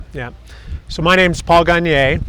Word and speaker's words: Gagner: So my name's Paul Gagner. That's spelled Gagner. It's French.